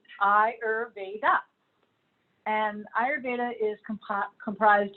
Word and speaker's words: Ayurveda: word so I spelled it there for you phonetically hire Veda and Eyre data is comprised of two different